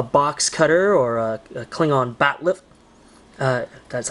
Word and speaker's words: bat'leth: Kind of looks like a box cutter or a Klingon bat'leth. That's how you pronounce it correctly.